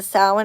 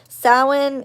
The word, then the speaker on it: Samhain: the first day mashallah sawin is a i used to always say the i used to say samhain because that's how it's spelt but um it is